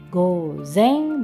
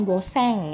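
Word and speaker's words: ごぜん: Oke, hai, jadi gozen bukan goseng ya, beda ya pelafalannya, goseng, gozen, beda ya.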